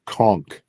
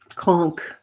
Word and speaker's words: conch: Is pronounced with a hard K. Conchk. Conchk.